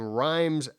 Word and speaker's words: Reims: This is 30 years later in a schoolhouse in Reims. How would you say that? Reims, Germany, or Reims, Germany? Reims? Yeah. I heard it's pronounced Reims. Reims? Right. It's like the capital of the Champagne district.